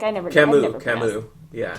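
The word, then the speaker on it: Camus: London or is it cus like I never Camu yeah C oh thank God I've never pronounced that aloud so thank you um so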